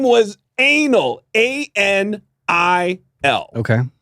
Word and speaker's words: Anil: A-N-I-L. Okay. I think he pronounced it Anil or something, but his name was Anil.